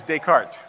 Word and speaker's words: Descartes: Okay, this guy's name is pronounced Descartes. Actually, it's Descartes.